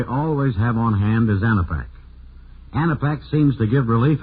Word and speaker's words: Anapac: It's spelled A-N-A-P-A-C, Anapac.